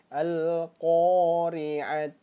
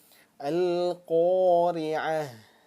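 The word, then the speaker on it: القارعة: Nah, maka dia berubah bacanya jadi H. Jadi H besar, bukan lagi huruf ta. Jadi jangan sampai keliru nanti ketika membacanya al-qari'at. Nah, jangan sampai seperti itu, jangan sampai dibacanya huruf ta tetapi dirubah menjadi huruf H besar.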